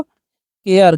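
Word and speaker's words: care: अब सी ए आर इ है तो सारे नहीं पढ़ना है। कार्य नहीं पढ़ना है। इसे पढ़ना है आपको। केयर।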